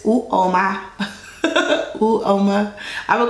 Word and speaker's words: Uoma: He says Uoma.